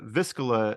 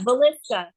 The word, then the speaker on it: Villisca: So you recently stayed the night at the Viscilla or Vis, is that how you say it? Villisca.